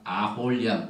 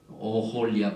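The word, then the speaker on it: 오홀리압: 원래가 아홀리아 발음 안 되죠. 오홀리아 발음해야죠.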